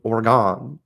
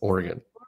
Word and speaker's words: Oregon: okay Khaleesi I don't know what you're doing or gone you know I mean I it's Oregon I always whenever I'm thinking